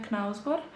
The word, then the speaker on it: Knausgård: In Serbian we say it Karl Ove Knausgård.